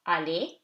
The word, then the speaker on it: aller: Okay, so aller, A-E, two syllables, two vowels, two syllables. After E, R is silent. Aller.